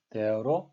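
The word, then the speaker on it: they're: 그래서 이 세 가지 다 there로 발음을 하셔야 되겠습니다. 같은 발음입니다.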